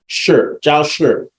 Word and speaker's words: Jiao Shi: Okay, so did you Jiao is pronounced J-O-W. Jiao. Then the S-H-I is like the word sure, but just with an accent on the I. Sure. Jiao Shi.